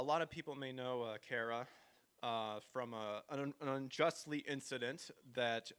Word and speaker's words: Kara: show tonight is just to get to know Kara and to hope. Am I pronouncing that right? I should Yeah. have asked. Okay, No, Kara. you actually pronounced it right.